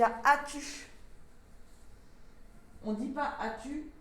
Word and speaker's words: as-tu: Difficulté pour as-tu, le S muet et le tiret.